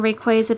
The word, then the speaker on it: Rayquaza: booster packs 65 card sleep Lees featureing mega Rayquaza yeah I I don't really like saying Rayquaza but that's how it's pronounced I wish they really did call it